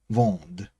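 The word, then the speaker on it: vendent: Again, in the third person plural, the ending is not pronounced.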